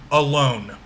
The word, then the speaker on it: alone: And notice that the first syllable is unstressed and the second syllable is stressed.